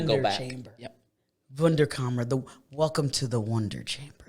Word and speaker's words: Wunderkammer: Wunderkammer Company.